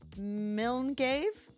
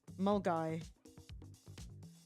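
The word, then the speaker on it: Milngavie: And I had to do the weather and pronounced Milngave? That's not right, is it? Mulgai. Mulgai! You butchered it so badly.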